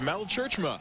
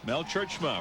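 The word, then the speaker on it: Mel Tjeerdsma: too there's head coach that's mel churchima mel churchman from northwest missouri state pronounced a little different than it spelled mel of course uh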